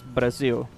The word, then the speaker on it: Brazil: Basically, Brazil is the name. We just don't use the soft R that English has, so it's Brazil.